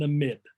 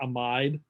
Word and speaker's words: amide: here that's called an amid and it's usually pronounced like that not amide we usually say that's